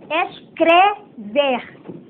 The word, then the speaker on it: escrever: tê com espanhol que temos a tendência de falar como se fala em espanhol e não é por exemplo o verbo escrever o verbo o verbo escrever aí tem um e não tem um I Então vamos prestar atenção